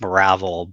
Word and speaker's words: Marivelle: My character is Adrian Marivelle. If you dig back into his family deep enough, though, it's supposed to be pronounced Maravel, but they tried to class it up.